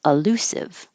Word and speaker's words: elusive: illusive this one but because they're not stressed that first syllable will just change to uh or for both of them elusive elusive so you would